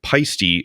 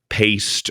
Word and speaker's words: Paiste: video but someone said how the heck do you butcher the name pisty so badly it's past not pisty it's a pet peeve of mine good info though I I think everyone at one point called it paste or py or something but I thought you